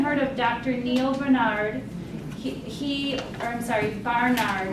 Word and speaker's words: Barnard: Barnard is how you pronounce his name.